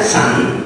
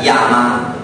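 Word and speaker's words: 山: E quindi, per esempio, non so, la montagna si può dire sia san sia yama.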